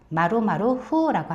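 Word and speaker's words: 〇〇: 마로마루 후라고 했습니다.이 동그라미를 일본 말로 마로라고 읽거든요. 동그라미를. 그래서 동그라미 동그라미 풍이니까 마루마루 후라고 합니다.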